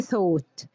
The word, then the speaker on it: thought: يعتقد think والpast thought think thought think thought، الـ th بننطقهم ساء والـ gh في وسط الكلمة دايما silent.